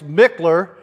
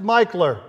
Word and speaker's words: Michler: It looks like it's Mickler, but it's pronounced Michler. He was a South Carolinian.